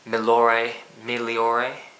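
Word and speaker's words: Migliore: The referees gave Peter Miliore, something like that. Don't pronounce the G.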